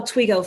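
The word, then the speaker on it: Toigo: that are shared with twigo so please look us up i'm going to spell twigo for everyone who doesn't know how to spell it it's t-o-i-g-o and you can find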